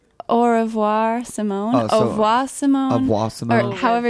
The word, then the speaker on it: Au Revoir Simone: I think we should really pronounce the name of our band, because maybe people can't. Oh, it's Au Revoir, Simone.